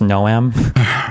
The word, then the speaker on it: Noam: It's pronounced Noam. I said the same for, horse porn, not goblin porn.